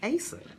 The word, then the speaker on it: Asa: It's Asa, like how it's spelled. A-S-A, I promise, like it's Asa.